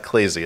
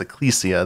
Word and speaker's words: Ecclesia: of Ruin and Order of Ecclesia it's not eaia it's aesia they pronounce it in the game um I never